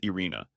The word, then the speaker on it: Irene: Her name was Irene, pronounced Irina, and she seemed to get along with everyone in the office and everyone who came into the office except me.